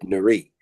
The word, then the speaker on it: Nuri: took the demos to Eric Narie. Eric Narie, that's spelled Nuri.